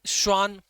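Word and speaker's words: Schwann: एक साइंटिस्ट थे शान वही एस साइलेंट बोलना है तो एस साइलेंट बोल दो शान हो जाएगा वह तो शान यह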